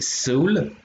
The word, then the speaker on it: Seoul: Et donc du coup, bah, dans les deux autres, donc on avait Seoul, donc avec la première syllabe qui est se et la deuxième qui est ul, enfin ul plutôt, qui est la ville de Séoul.